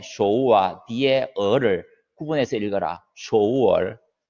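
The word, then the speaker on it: 首尔: 쇼우얼. 서울을 중국 발음으로는 쇼우얼 이렇게 합니다.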